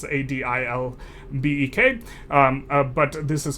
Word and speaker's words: Adilbek: I'm sorry, I don't know these Turkish pronunciations. It's Adilbek.